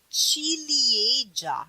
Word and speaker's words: ciliegia: You pronounce it ciliegia. See? Ca, chi. Why? See, it's the same letter because with a strong vowel, it's gonna be ka. With a soft vowel, it's gonna be chi, right?